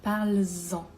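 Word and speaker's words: parles-en: Maintenant, si on utilise en, c'est-à-dire parle d'un sujet, parle de ce sujet, on peut dire parle-en. Vous entendez la liaison? Parle-en.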